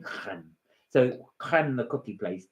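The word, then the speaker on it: crème: Right, she hates it when I pronounce it creme, because I'm trying to give it the French name creme.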